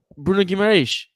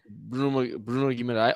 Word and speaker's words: Bruno Guimarães: I purposely say I try to say it with the Portuguese accent.